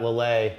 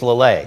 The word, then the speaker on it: Lillet: And then we've got Lillet. How you spell that? Lillet.